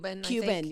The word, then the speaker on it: Cuban: Cuban, yeah.